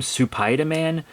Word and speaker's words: Supaidaman: were like mad that fans call him super PID man Even though that's literally how he says his own name and for some reason